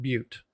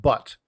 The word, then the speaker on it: Butte: And Elephant Butte, or Elephant Butte, depending upon if you know how to pronounce the Butte.